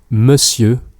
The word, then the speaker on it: monsieur: By the way, note the subtle difference in pronunciation between monsieur, sir, and messieurs, sirs, gentlemen. Monsieur, messieurs. Ouais, bien sûr, je dois dire quelque chose.